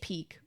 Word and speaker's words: pique: It's peak with a Q.